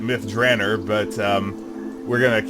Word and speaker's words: Myth Drannor: Um, as I recently discovered, uh, Ed Greenwood pronounces it myth Dranner, but um, we're going to keep with what we've been doing cuz we've already established the style.